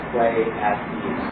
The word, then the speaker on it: Pleiades: First one is the currency that Pleiades, the star system, Pleiades, yes. could also be pronounced play at ease.